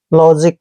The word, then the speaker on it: logic: एल का उच्चारण ले करते हैं, ओ को ओ की मात्रा पढ़ते हैं, जी को दोस्तों जय पढ़ना है, आई को ई की मात्रा पढ़ना है, सी का उच्चारण कै करेंगे, लॉजिक।